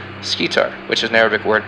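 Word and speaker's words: Schedar: The brightest star in Cassiopeia is pronounced Scitar, which is an Arabic word meaning breast.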